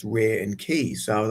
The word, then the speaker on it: Reiki: this energy and this ray key and that's kind of like how it's pronounced ray and key.